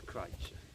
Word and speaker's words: Crich: Or is it Crich? I don't know what. It's Crich. Crich, yeah. That's the proper pronunciation.